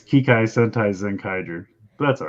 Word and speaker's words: Kikai Sentai Zenkaiger: It's Kikai Sentai Zenkaiger.